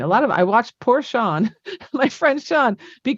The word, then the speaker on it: Sean: She didn't pronounce the proper Irish spelling of Sean. She pronounced it Scene. I watched poor Sean, my friend Sean, be